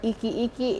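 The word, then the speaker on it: ʻikiʻiki: But a way to remember this term ikyeky it rhymes with sticky sticky and it's for humid seasons.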